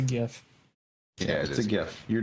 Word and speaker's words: GIF: he says Guttenberg well the creator of the of the animated gif calls it a jiff but it's not a J so he doesn't get to choose how he pronounces it it's a gift yeah the gift you're